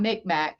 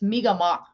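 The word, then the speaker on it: Mi'gmaq: I don't want to say it wrong. I think that's how you say it. It's not Micmac. It's Migamak.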